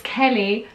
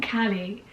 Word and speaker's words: Kelly: he's been told repeatedly no it's kelly not callie but kelly is kelly's